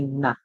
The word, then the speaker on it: gnat: mosquito, you would say gnat. What would you say? Gnat. All right. And remember that gnat spells with a silent G at the beginning, a G that you do not hear.